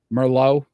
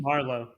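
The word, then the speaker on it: Marleau: how we rank them that's Joe thoron Patrick Mero right did I say it correctly Marlo Marlo that was close Roberto l i maybe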